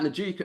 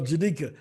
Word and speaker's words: Janika: Who is that, Najika? I always pronounce her name wrong, and she has to forgive me. Oh, Janika. Oh, Janika, yeah.